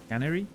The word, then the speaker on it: canary: Canary can canary canary. Where's the accent though? No. First syllable. Canary.